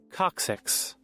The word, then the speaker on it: coccyx: went way past 12 o'clock there goes your coccyx oh you see how he's like straight in the legs yep there it is where you guys think I'm probably making this up how do you say it coccyx one more time coccyx there you go thank